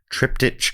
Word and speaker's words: triptych: supporters into the Patreon Triptych Club. Welcome. We know it's pronounced triptych. Now we do. For a couple of years we didn't, but that was because Dave said it wrong on episode 1, and we've gone with it since then.